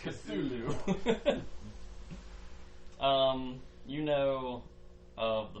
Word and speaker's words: Cthulhu: cool kitty kitty Hulu I believe it's pronounced Cthulhu um you know of the monastery and how